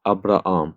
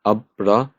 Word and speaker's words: Abraham: Abraham. We have two alphas together. So I'm going to pronounce the first one normally like I do.